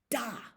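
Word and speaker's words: да: Da.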